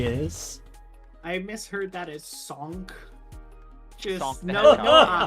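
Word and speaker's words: Sankh: One of my friends made his character who is a half-orc barbarian druid named Sonk. The bingo is spelled like S-A-N-K-H Okay.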